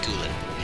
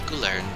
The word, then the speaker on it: Kula: For some reason I like to add an R to his name, it's just Kula. It's not Gulern, it's not Gurlen, or anything else like that, which is just a source of confusion to me.